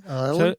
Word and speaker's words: Ioelu: It was uh Ioelu. Ioelu.